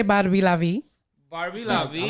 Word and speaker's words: Barbie LaVie: Did I pronounce that right? Absolutely. Mm-hmm. Or you could say Barbie LaVie.